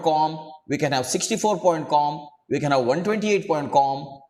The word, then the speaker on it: QAM: And in case of QAM, sometimes we abbreviate it and we simply pronounce it as COM. Instead of telling QAM, we can simply say COM.